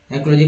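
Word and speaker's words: psychology: याद रखिए साइकोलॉजी साइकोलॉजी का स्पेलिंग पी से स्टार्ट होता है बहुत सारे लोग नहीं जानते हैं cgology पीसी तो समझ रहे हैं लेकिन साइकोलॉजी न्यूरो साइट्रिक पी से स्टार्ट होगा पी एस ए सी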